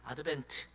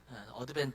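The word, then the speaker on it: Advent: 우리나라처럼 이렇게 여러 말을 사용하지 않고 한 가지 사용하는데 아드벤트 어드밴 또는 뭐 애드벤트 이렇게 발음이 이제 어 위치마다 좀 다르긴 하지만 아드벤트라는 단어를 사용하게 됩니다.이 아드벤트라는 말은 어 이제이 라틴어에 아벤투스 여기 N자가 빠졌네요.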